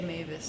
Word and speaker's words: Maves: If something is mispronounced, how do we get people to say Mavis again?